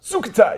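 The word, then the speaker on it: Sukhothai: Sucatai. You got to say it like that.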